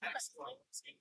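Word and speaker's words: axolotl: How do you pronounce that name? Axolot. Excellent. It's Axolot.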